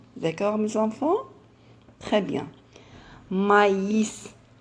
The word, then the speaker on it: maïs: allait très mal elle va un oui je prononce maïs vous savez le maïs maïs maïs très bien mes enfants hélas deux points et de pain on l'appelle le tréma d'accord nos enfants très bien maïs à la ccl dit alors on a déjà